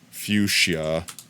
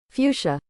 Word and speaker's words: fuchsia: Google and typed in fuchsia and had it pronounce it for me. Fuchsia. Fuchsia. Thank you. Google confirms fuchsia. Fuchsia. Thank you very It's not Fuchsia. Fuchsia. Two syllables.